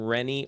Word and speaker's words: Rene: Okay, so I have a question in the chat, and I believe we pronounce his name Rene, R-E-N-E.